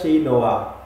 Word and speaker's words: chinois: Next up is chinoise, which is a Chinese cooking equipment. It is pronounced as shi noa.